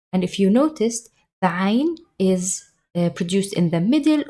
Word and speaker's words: Ayn: Ain. So the Ain comes from the space between your tongue and above your voice box. So it's in the middle of your throat.